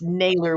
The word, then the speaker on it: Nayler: people mispronouncing my name and yeah y'all still spell it wrong so it is Naylor with an E doesn't take nothing away from this interview except one thing it's nailer within us so I'm quite easy to find